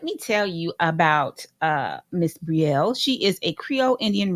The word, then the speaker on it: Brielle: You are Brielle, kind of like Gabrielle, just take off the gab.